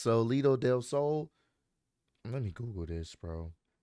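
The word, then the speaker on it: Salida del Sol: that solo Del I think it's called pronounced solo Del Soul let me Google this bro I got to make sure this is right I don't want to botch this up so his finisher is pronounced Salita Delo okay I just wanted to make sure because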